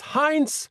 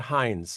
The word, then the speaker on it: Heintz: It's Hines, not Hines. Not like the ketchup. Not the ketchup fortune, unfortunately. Got it. Sarah Jordan Hines, welcome.